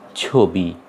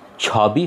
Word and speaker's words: ছবি: আমাদের এই উচ্চারণটা হবে ছবি। দেখো উচ্চারণটা হবে এরকম, ছবি। ছবি হবে না, উচ্চারণটা হবে ওকারের মতো, ছবি।